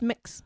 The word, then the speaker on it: Mx: in it's pronounced mix it's either mix or MUX depending on how you pronounce it mix mix mix max